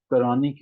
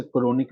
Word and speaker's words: chronic: हम इसे क्रोनिक भी कह देते हैं। ठीक है, लेकिन असल इसकी प्रोनाउंसिएशन जो होती है वो हमारे पास क्रॉनिक है, क्रॉनिक है।